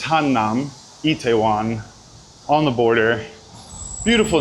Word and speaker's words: Hannam: You know, you guys been telling me I'm saying it wrong. I like to say Hanam. I think it's Hannam. I have to get that right. I have to get that down because Hanam is a different neighborhood somewhere else.